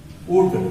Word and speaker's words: would: इसका ट्रांसलेशन होगा ही वुड, WOULD, यहाँ L साइलेंट रहता है, वुड पढ़ते हैं, ही वुड बी a farmer, he would be a farmer।